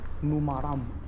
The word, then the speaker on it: numaram: Numaram.